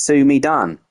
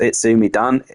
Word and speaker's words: Sumi Dan: Dan because that is not how you say it. He has told me. He has told me. And you were all wrong. You've all been saying it wrong. It's not It's me, Dan. It's Sumi Dan like uh Mario.